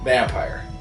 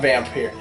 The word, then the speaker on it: Vampyr: right all right it's it's technically it's just pronounced vampire not vamp here Bethany confused with that